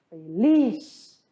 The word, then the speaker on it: feliz: Ele quer dizer que está feliz. Feliz se escreve igual, porém se pronuncia diferente. Feliz.